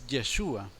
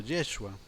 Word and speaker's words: Yeshua: pero el original de acuerdo al hebreo es yeshua o algunos lo pronuncian como yeshua ahora de acuerdo a los textos del nuevo